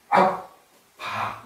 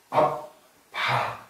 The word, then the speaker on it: 압바: 그런데이 새한글 성경은 악바 이렇게 예 연결해서 읽으면 아빠지만 그 본래의 발음이 아라고 그러거든요.